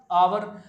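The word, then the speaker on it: hour: English में लिख दिया आवर अब बोल रहे हैं आवर और लिख रहे हैं हावर एक साइलेंट कर दिया तो हमारी हिंदी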